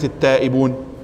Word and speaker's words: التائبون: وفي كلمة التائبون تضغم اللام، لماذا تضغم اللام في كلمة التائبون؟ هذه لام ال التائبون، أما هذه فلام الفعل، فالتقمه.